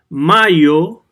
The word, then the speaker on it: mayo: Mayo is pronounced mayo, not mayo. Mayo is a sauce, remember.